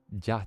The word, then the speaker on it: ja: The J isn't pronounced that. It's like, I know that's the joke because it's like saying it how it's read, like ja ja ja ja ja ja ja ja ja.